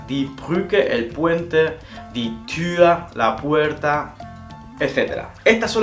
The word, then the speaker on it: Tür: La U con dos puntos sería una U poniendo la forma de la U a la hora de decir la letra y queriendo decir una I.